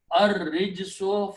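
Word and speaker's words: الرِّجْسُ: Okay, and Ra will kill the sound of Lam because it's a Shamsi letter. So you pronounce Ra twice and do not pronounce Lam. So Al also changes these two dhammas to one. So the final pronunciation will be Ar Rijsu.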